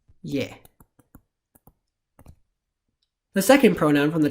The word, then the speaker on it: यह: this pronoun is spelled as yaja it is pronounced yeah the second pronoun from the top of the